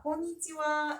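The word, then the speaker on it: こんにちは: 자, 일단 발음 다시 해볼게요. 합니다. 저희 와예요? 예. 우리 일본에 만날 때 인사가 konnichiwa 이거 처음 들어봐요?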